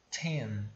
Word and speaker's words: ten: E lembra da dica de pronúncia quando a gente tem um Tzinho, né? Esse T em inglês, ele é pronunciado soprando, é como se você estivesse botando um arzinho para fora da sua boca, né?